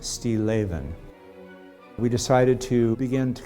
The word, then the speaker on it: Stilleven: and it means still life and it's actually pronounced steel avin we decided to begin to kind of look